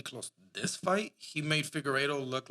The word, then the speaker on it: Figueiredo: This fight, he made Figueiredo look like not the champion, bro.